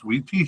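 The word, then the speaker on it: Witi: wi wi TI and I've learned the pronunciation is wheaty he was also selected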